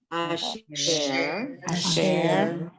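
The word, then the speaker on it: אשר: Asher. Asa. Okay, so you have in Asher, you have an Aleph. Aleph is silent, just pronounce the vowel under it. Asher.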